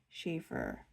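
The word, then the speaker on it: Sheaffer: So, this is the Oh, and I always forget how to spell it. S H E A F F E R Shaver Pop.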